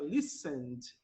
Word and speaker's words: listened: A princípio, vamos começar pronunciando sem a letra E do ED, que você acrescenta para o verbo no passado. Então, vai ficar listened.